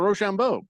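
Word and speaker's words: Risacher: Rochambeau? That's right. There it is. It's Really not how you official.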